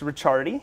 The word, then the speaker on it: Ricciardi: No, so it's Ricciardi, and in Italian, the C and the I make the ch sound.